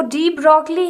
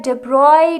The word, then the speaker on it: de Broglie: जो डी ब्रॉगली है उसका एक्चुअल प्रोनाउंसिएशन होता है डेब्रॉय, ब्रॉय होता है, पर हम इसको डी ब्रॉगली कहेंगे।